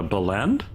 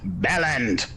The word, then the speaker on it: bellend: A belend? It's pronounced Bellend.